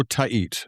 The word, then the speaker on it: Tait: So, it's Eduardo. Eduardo Tahit.